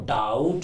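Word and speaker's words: doubt: अब देखो डाउट में बी साइलेंट है।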